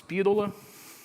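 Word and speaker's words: Spidola: And these Speedola, how do you pronounce Speedola?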